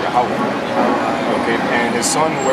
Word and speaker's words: Yahweh: This is how you pronounce the real name of the Heavenly Father, not the one called God, Jehovah. This is Yahweh.